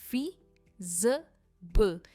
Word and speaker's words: feasible: इसकी प्रोनाउंसिएशन है feasible। जो स्ट्रेस है ना वो फी पर है, feasible।